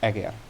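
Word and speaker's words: Eger: and eager castle uh it's pronounced diordur uh and aguer but uh yes uh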